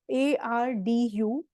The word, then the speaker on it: arduous: अब इसकी जो pronunciation है, यहाँ पे जो D आप देख रहे हो, ARDUOUS, it means arduous. Okay. अब इसमें जो डी है वो डी एज इन दिल्ली वाला नहीं बोलना, जी एज इन जिराफ,